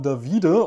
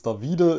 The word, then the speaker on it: Davide: Ich muss dazu sagen, beim letzten Mal habe ich einfach nur David gesagt, aber er wird hinten mit E geschrieben und deswegen ist es Davide.